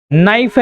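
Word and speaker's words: know: है ना? जैसे यहां पर नाइफ है इसमें के साइलेंट है। इसे पढ़ते हैं नो। के एन ओ डब्ल्यू को नो पढ़ते हैं जिसमें के साइलेंट है।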